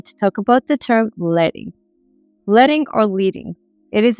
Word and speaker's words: leading: is actually pronounced as leting and you might be wondering why in hand type setting composers use thin strips of lead to add vertical distance between the lines of type that's where the term